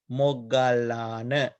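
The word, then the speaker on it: Moggallāna: The Moggallana here, O is here, it is long vowel. But here you can see join letter. Therefore, we pronounce it as short letter. Moggallana.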